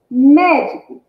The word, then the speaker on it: médico: Médico, médico, médico. Qual a sílaba mais forte? Ah, o mé, mé.